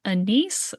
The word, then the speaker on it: anise: Do you say anise? I say anise, but it might be anis.